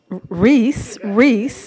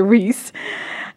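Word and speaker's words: Rhys: The Reverend Rai Kiyaina, who Reese, okay. It's spelled R-H-Y-S, everyone. Okay, Reese.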